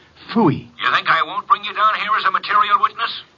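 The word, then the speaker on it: Pfui: It can be spelled in several ways. I spell it P-F-U-I. Phooey.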